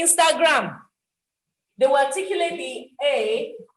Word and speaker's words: Instagram: there is a nasal there is a nasal after the letter i so the nasal has to come out instagram instagram some people some people would say instagram they will articulate the